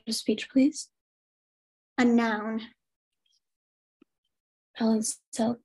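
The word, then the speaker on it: balancelle: Your word is balancel.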